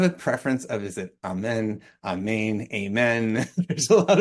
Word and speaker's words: Amen: So for this crowd, I'm guessing amen is the right way to say it.